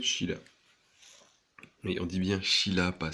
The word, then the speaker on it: Scylla: Et on dit bien Sheila, pas Scylla ou Scylla, on dit Sheila. SC en grec et en latin ça donne ch.